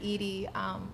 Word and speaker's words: Eady: So I'm Eady. A lot of people never know how to pronounce it, but think like Eady's ice cream.